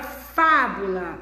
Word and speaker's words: fábula: sílaba tônica exemplos fábula pronuncia a palavra fábula olha como é que a boca se abre completamente o indica que o som dela é aberto né porque está é